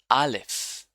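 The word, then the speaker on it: אָלֶף: Aleph. Aleph is a silent letter, basically.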